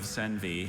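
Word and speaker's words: senvy: One variety of senvi has big white seeds while another variety has little brown seeds.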